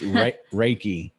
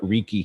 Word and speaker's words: Reiki: You say it. It's Reiki. Yay! Yeah, I don't know. I call it Rieke. Not but Reiki. That's what, Reiki don't lose that number.